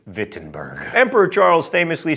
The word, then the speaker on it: Wittenberg: Also, let me say retroactively, now that everyone has commented on my poor German pronunciation, Wittenberg.